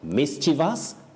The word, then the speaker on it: mischievous: So mischievous, not mischievous.